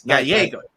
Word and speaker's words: Gallego: But the way it's commonly mispronounced every time is someone always adds an S at the very end of the O.